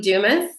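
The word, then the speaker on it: Dumas: to say this your interview with John Lee Dumis did I did I pronounce his name correctly yes you didas yeah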